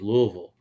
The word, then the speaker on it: Louisville: It's Louisville.